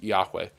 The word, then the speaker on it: Yahweh: It's Yahweh.